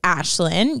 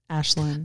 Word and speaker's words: Ashlynn: school my name is ashlynn you can say my name is similar ashland oh yeah yeah i